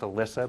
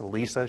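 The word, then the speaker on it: Elissa: SSA and everyone thinks her name should be pronounced Alyssa but it's Alisa she's the uh Chief marketing officer at tableau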